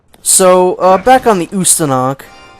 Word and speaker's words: Ustanak: uh back on the usthanak ustanak yeah that's how you pronounce it ustanak it is a serbian word it means revolution so that's pretty cool